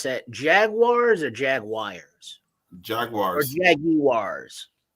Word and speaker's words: Jaguars: Jaguars or Jaguars? Jaguars. Or Jaguars? Jaguars. It's like the car, Jaguar.